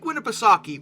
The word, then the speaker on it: Winnipesaukee: Lake Winnipesaukee, which I looked up the pronunciation too, so no one better correct me about this, because that's how it's apparently supposed to be said.